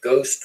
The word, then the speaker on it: ghost: And so you get an H, which you do not pronounce because the pronunciation stayed the same, but the way it was written changed.